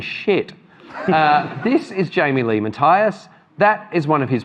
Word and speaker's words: Matthias: Firstly, have I pronounced your name correctly? It's Matthias.